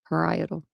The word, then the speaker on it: parietal: On the left, let me see if I'm saying this right. I hate if I say this like 15 times the wrong way. That would be good. Parietal. See, I was saying it wrong.